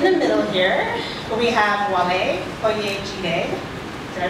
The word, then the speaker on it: Wale Oyejide: In the middle here, we have Wale Oyejide. Did I pronounce that correctly?